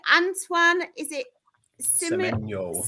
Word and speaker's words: Semenyo: Antoine, is it Semenyo? Semenyo? Yeah. It sounds like Circle of Life, doesn't it?